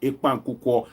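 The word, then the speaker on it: ekpang nkukwo: So I remember that of the Akwa Ibom food, ekpan kuko. I hope I got the pronunciation correct.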